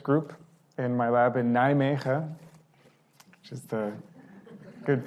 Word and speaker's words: Nijmegen: So I have a really nice research group in my lab in Nijmegen, which is the good pronunciation.